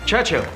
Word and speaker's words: Churchill: James's visit to Churchill Churchill that's how you say it all together like that I'd heard church and Hill but couldn't find either